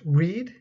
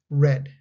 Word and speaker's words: read: trip note be careful the spelling for the past tense is the same as the present tense but they are pronounced differently present tense is pronounced read the past tense is pronounced red grow no one took